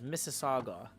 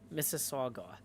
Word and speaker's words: Mississauga: Scott Hart corrects my pronunciation and says Mississauga. Mississauga.